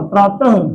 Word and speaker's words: प्रातः: विसर्ग, प्रातः काल, प्रातः ह की साउंड देता है, और ह क्या है?